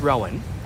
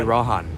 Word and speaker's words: Rowan: or ran um ran it's Rowan but but since UB but since Ubers everyone calls me Rohan so you're emphasis the W yeah so Spanish people struggle to say my name so do you mind